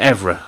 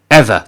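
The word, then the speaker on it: Eaver: Or is it Evra? Hang on, let me just double check that. Damn pronunciations. Ever, that's it.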